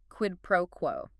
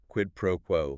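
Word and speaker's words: quid pro quo: Quidd proquo. Q UI D P R O UO quid proquo like q ue pro qo stress on the first and last words generally yes qed pro qu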